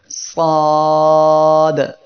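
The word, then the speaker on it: ص: সবাই আমার সাথে সাথে পড়েন সাদ সাদ। এই অক্ষরের মাখরাজ হলো জিহ্বার আগা সামনের নিচের 2 দাঁতের পেট ও আগার সঙ্গে লাগিয়ে সাদ উচ্চারিত হয়।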